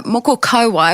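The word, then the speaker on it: moko kauae: But let's start with me getting my pronunciation right, which is and those listening, moko. Yep, moko. Yeah, moko kauai.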